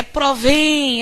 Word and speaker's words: provém: provém Olha que sílaba tônica é a sílaba mais longa é provém essa sílaba final que se prolonga durante mais tempo e ela termina com